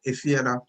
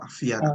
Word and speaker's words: Efiada: So for example, Efiada, even though we say Efiada, if you look at other literature, there's people spell it with an A at the beginning. So as a lot of exactly. So a lot of people, instead of saying Efia, say Afia or Afiada.